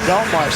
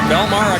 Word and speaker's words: Bellemare: There is a suburb in southern New Jersey, spelled a little differently, but pronounced the same way.